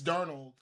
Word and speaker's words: Darnold: There's no T in Darnold. It's Darnold.